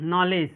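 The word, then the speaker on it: knowledge: डी का जो है डी का आवाज आएगा डी का साउंड आया नहीं आया क्योंकि यहां पे जो है देखिए जी के डी के बाद जो है देखिए यहां पे डी के बाद जो है जी आ गया है कहा गया है रूल में जब डी के बाद जी आ जाए तो डी को डी जो होगा साइलेंट होगा तो यहां पे देखिए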